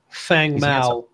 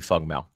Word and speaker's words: Feng Mao: He has two different pronunciations. It is Fang or it can be Feng. I was told 100% it's strictly Feng Mao.